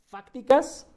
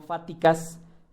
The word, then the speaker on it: fácticas: Dice, las ciencias están divididas en fácticas y formales. La ciencia está dividida o se clasifica ¿en cuántas? En dos. Únicamente en dos. ¿Cuáles son? Fácticas, no fáticas, fácticas, con C y acento en la A, fácticas y formales.